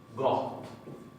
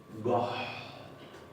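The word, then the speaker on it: gott: Goht con doble T. Goht. Se produce una aspiración antes de la doble T.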